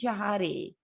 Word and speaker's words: Shahade: our chat is wondering shahadi shahadi yeah a lot of people do it Shah or shahad but nope it is jahadi rhymes with body um so White's promoting